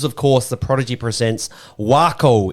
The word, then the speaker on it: Waco: course The Prodigy presents wo in Texas I think that's how you say it right like taco Yes W yep wo